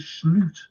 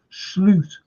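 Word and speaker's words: Slot: Madrid coming up, what competition do you think Sloot, that's how you pronounce his name, by the way, Sloot will rotate and rest for?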